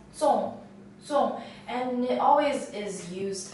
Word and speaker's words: 粽: This character is pronounced as 宗,宗, and it always is